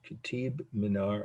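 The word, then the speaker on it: Qutb Minar: q-u-t-b the first word minor m-i-n-a-r two words kitib minar i'm pronouncing as closely as i can i i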